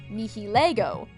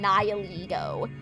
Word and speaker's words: Nihilego: Also, I remember before the anime was dubbed into English, there were a lot of people, including myself, that pronounced its name the Latin way, Nihilego.